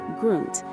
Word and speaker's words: Grund: In the heart of the Grund, pronounced Grund, district, standing proudly on the banks of the Alzette River is the Neumünster Abbey.